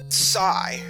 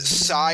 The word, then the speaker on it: Psi: Nintendo can also use Psi. I'm gonna try to pronounce it Psi and not PSI. It's short for psionics, so yeah.